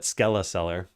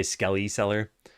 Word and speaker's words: Skeleseller: I call it Skeleisellar, but I've heard a lot of people say skellyer, but yeah, I say like skeleton skeller. I don't know if anyone pronounces skeleton like that. So, I'd say they're all wrong.